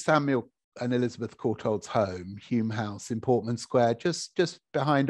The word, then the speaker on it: Home House: This was the it's called Home House, it's actually pronounced Hume House, but this was Samuel and Elizabeth Courtauld's home, Hume House in Portman Square, just